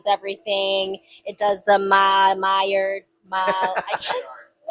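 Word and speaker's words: Maillard: The malard. Mayard Mayard reaction.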